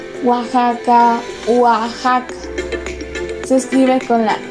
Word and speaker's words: Oaxaca: Oaxaca, Oaxaca. Se escribe con la X.